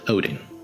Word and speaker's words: Odin: we shall start with the god Odin "Hoden" (Swedish pronunciation) whom before being considered